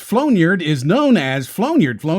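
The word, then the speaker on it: flaugnarde: people at home of course right a flowniard pronounced flownyard is known as flownyard flow near flonird or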